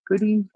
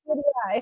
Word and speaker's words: goodeid: Goodie. I've heard it both ways. Goodie Yeah, and goodie eye. So yeah. it just So depends on where you're from.